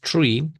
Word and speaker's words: three: So, this one comes three. Teniendo en cuenta que la th no es una z, no es el sonido Z, but it goes tre. So, it goes just like se arrastradito en la th.